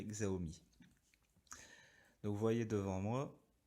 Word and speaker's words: Xiaomi: Xiaomi pour ceux qui veulent prononcer à la chinoise, moi je dirais Xiaomi.